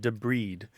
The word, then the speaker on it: debride: e b r i d e but it's pronounced debed and it's removing damaged tissue from uh or or trash or foreign objects from a wound or a cut and so you de breed it like for example if you get a